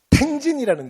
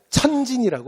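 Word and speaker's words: 天津: 그래서 굉장히 큰 도시인데 여기에 가면 텐진이라는 데가 있어요. 텐진. 우리 발음으로는 천진이라고 발음합니다.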